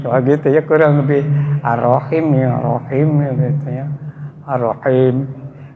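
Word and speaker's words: الرحيم: Dibaca arahim artinya arahim maha lembut suaranya. Dengan nama Allah yang maha lembut suaranya kalau salah arrahman arrahim. Mestinya kan Arrahman Arrahim yang maha pengasih maha penyayang. Salah ngucap arahim.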